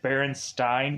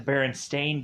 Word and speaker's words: Berenstain: well isn't the bear isn't it berenstein bears and brandon's like no it's a berenstain bears okay i thought it